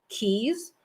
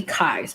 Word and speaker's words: Keyes: so we have israel keys i want to pronounce it keys it may be kai's but i'm just going to say keys anyways so um he was